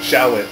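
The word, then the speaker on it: Sahwit: Shawit.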